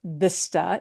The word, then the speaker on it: vista: used for names of towns, and that is vista. Vista. Vista. Vista, which does mean view. Yeah. A vista in English, but we don't pronounce it vista in Spanish.